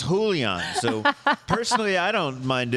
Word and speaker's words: Julian: So I'm just saying, it's Julian, not Julian, not Julian. It's Julian.